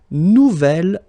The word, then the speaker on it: nouvel: J'aime mon nouvel ordinateur. Nouvelle, phonetically you pronounce it like the feminine version, but then you write it N-O-U-V-E-L.